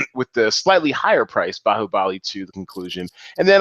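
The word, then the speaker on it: Baahubali: like three weeks ago you probably called this movie like bahoo buly or something you know you sounded like Mushmouth and then by the third week you have like you are phonetically correct in pronouncing all of these you're just like bahubali bahubali so kudos to you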